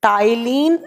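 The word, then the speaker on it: ptyalin: लिखा जाएगा पी से, प्रोनाउंस किया जाएगा टी से, टाइलिन अमाइलेज। मैंने बताया कि सलाइवा में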